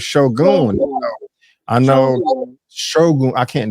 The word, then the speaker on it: Shōgun: we are talking Shogun I have been pronouncing this episode or the title or the this show wrong I keep I keep saying Shogun but it's Shogun I know sh I